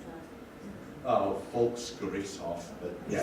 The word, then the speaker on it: Volksgerichtshof: And how do you pronounce that? Oh, Volksgerichtshof, but yeah, it's just People's Court.